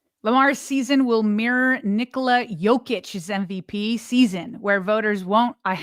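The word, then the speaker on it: Jokić: Nice pronunciation on the Jokic, too. There's a lot of people that don't go the silent J, and you nailed it.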